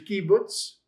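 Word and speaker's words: קובוץ: That is your short U is in pull. That's your kibbutz.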